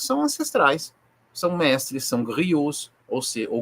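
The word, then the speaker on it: griot: ancestrais são mestres são grios ou se ou Grio do francês não se não se pronuncia s no plural são contadores de histórias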